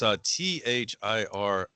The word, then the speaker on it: Thiriart: it's Thiriart, with apparently the RT at the end being silent.